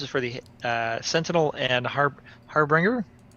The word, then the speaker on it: Harbinger: for the Sentinel and Harbinger. Harbinger. Harbinger. It's not bringing nothing. Harbinger. Yeah. It's not bringing Harb. No, it's not a harp. It's the Harbinger jet.